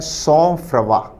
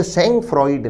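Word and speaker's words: sang-froid: पहला ऑप्शन उच्चारित किया जाता है सौंफ्रवा। ये शब्द सेंग फ्रॉइड नहीं है, सॉफ्रवा इसका उच्चारण है।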